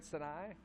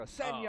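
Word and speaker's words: Sanayei: Is that Darian Sinai? Mispronounced across America. Senya.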